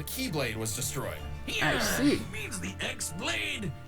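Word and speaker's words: χ-blade: was destroyed means the x-blade it's just pronounced like keyblade even though it's just one keyblade ah the series is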